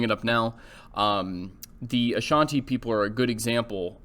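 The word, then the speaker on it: Asante: any means um but the ashanti and that's how you pronounce their names a-s-a-n-t-e uh were strong participants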